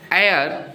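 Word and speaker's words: heir: है विजय इज एन एयर टू my property अब देखो यहां पर एर जो यूज हुआ है यहां भी एच साइलेंट है एन एयर एयर मींस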